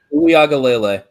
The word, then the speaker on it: Uiagalelei: DJ Uiagalelei.